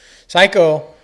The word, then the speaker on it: Saiko: It's spelled SAIKO. But it was kind of a good play on words. Yeah. Nobody knew what it meant. Psycho. It's like psycho.